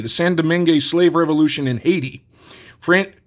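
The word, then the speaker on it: Saint-Domingue: to quash the St San doming I I don't think you pronounced the D the San doming slave revolution in Haiti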